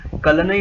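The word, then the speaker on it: Kallanai: तो इस डैम का नाम है कलनई, जो भी साउथ इंडिया में प्रोनाउंस करते हैं, दैट इज कलनई डैम।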